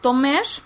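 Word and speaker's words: תומר: el nombre de tamar la palabra para referir al tronco de una Palmera es eh tomer o tomer que se escribe igual que el nombre de tamar pero se pronuncia diferente ustedes saben que todas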